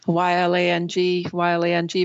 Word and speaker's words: ylang: I think one of the big exports for the island, and I can't pronounce this properly, is it Lang Lang or something? It's Ylang.